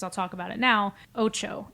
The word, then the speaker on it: OTXO: Ocho. It's spelled OTXO.